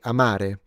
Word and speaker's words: amare: When we say "amare", what I'm doing is that to love or "amore" love I'm putting the stress on the second syllable.